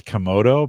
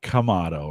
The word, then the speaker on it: Kamado: you've corrected me I've always called these guys kodo but they're kamado right is the is is that how they pronoun kamato is the way they pronounce it um did